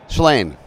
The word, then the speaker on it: Shlain: Shlain. Yes. Shlain. It's six letters and one syllable.